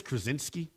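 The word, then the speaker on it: Krawczynski: I think it's Krinski I think is the proper pronunciation.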